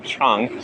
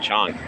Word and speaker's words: Chang: I finished my chung, so it's time for the long walk home, although it's not that long. Chang. I think it's pronounced Chang. Correct me if you know. I think it's Chang.